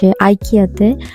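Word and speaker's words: IKEA: এরপর আমরা আবার কিছুক্ষণ সিটিতে হেঁটে হেঁটে আমরা যাই আইকিয়াতে। আইকিয়া বা ইকিয়া, আমরা জার্মানিতে ইকিয়া বলি, কারণ জার্মানিতে আইয়ের যেই উচ্চারণটা সেটা দিয়ে করে, সো আমরা ইকিয়া বলি।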